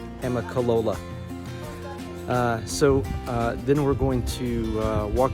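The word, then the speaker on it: Amicalola: Trust me, I had to work for a day to get that pronounced correctly, Amicolola.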